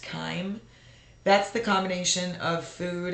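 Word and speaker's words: chyme: uh Kim So CH y m e is pronounced Kime that's the combination of food and digestive acids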